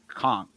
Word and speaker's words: conch: And she says, conchk. It's pronounced conchk.